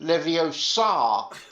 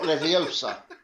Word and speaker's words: Leviosa: The only thing I really feel that needs to be mentioned based on the last story is it's pronounced Leviosa, not Leviosa.